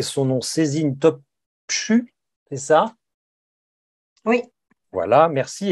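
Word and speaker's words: Sezin Topçu: éditions La Découverte avec, je vais très mal prononcer son nom, Cézine Topchu, c'est ça?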